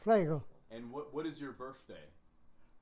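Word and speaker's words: Flegel: My second name is Flagel. It's spelled like Flagel, but in the dramatic language, E is like an A. So that's why F-L-E-G-E-L is pronounced Flagel.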